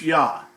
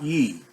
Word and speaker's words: Yah: the creator's name and the first two are without question pronounced as ya not ye and the only way